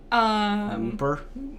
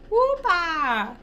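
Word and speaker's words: Wooper: We're getting, Whooper? You gotta say it right. That's how he says it. Whoopa!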